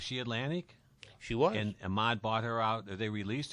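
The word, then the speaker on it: Ahmet: And Ahmad bought her out. They released her, and he bought her out, and then that's when the hits came. He took her down to Muscle Shoals. Rhymes with vomit.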